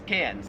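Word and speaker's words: Cairns: it wouldn't matter because the Australian accent just leaves the r off if it's ever in the last syllable of a word so you would pronounce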